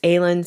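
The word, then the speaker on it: Elin: name that's often mispronounced my name is aylin spelt e-l-i-n doesn't sound like what it's spelled like so i'll try to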